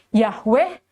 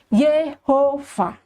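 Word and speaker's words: Yahweh: namaku pastilah kata yang tertulis sebagai Yeh yang sangat populer dengan pelafalan sebagai Yahwe atau Yehova.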